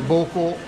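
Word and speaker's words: 膀胱: It's the same pronunciation.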